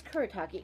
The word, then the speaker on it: Kuretake: my wheelhouse um uh i'm not even sure how to say it choreo um like brush marker i want to say i have one of these it's kuretake everything's kuretake i swear